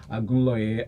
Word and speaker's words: Agunleye: We have representatives from BudgIT here, research analysts Agunleye and Ayomide Faleye. Okay, so you tried this time with the names. What's the pronunciation of English? No, you have to correct it. Agunleye. And Ayomide Faleye.